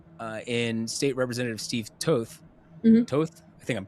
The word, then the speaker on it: Toth: But he has a challenger from the right in State Representative Steve Toth. Mm-hmm. Toth? I think I'm pronouncing that correctly.